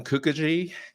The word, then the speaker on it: Kookogey: have a special guest his name is Kukui a very hard name to spell or pronounce but you got it right you got